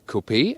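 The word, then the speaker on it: Coupé: GLE Coupe or Coupe, we always say Coupe because we lean to the French original pronunciation.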